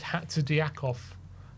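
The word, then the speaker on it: Hatzidiakos: Oh, it's Hatzidiakov. That's how you pronounce it. So poor. How dare you? Hatzidiakov.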